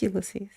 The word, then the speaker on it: Ulysses: Is that how you say your name? I might not be saying it right. I'm Yes, Ulysses.